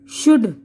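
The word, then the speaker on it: should: हथेली, पाम, काम, सुकून, हाफ, निस्फ यानी आधा, वॉक चलना, फॉक गुरोह इंसानी, टॉक गुफ्तगू, शुड चाहिए, वुड जाएगा, कुड सकना।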